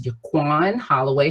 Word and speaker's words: Yuquan Holloway: um like she said my name is jaquan holloway she pronounced it perfectly my mother calls me that